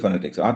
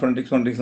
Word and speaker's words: phonetics: Articulatory ഫൊനറ്റിക്സ്. What is articulatory ഫൊനറ്റിക്സ്? ഈ ഫൊനറ്റിക്സ് എന്നുള്ള വാക്കിന്റെ തന്നെ ഞാൻ ഫൊനറ്റിക്സ് എന്ന് പറയുന്നെങ്കിൽ അതിന്റെ ഉച്ചാരണം നോക്കുകയാണെങ്കിൽ ഇറ്റ് ഇസ് ഫിനാറ്റിക്സ്. സ്ട്രെസ് ഇന്നിലാണ് ഫിനാറ്റിക്സ്.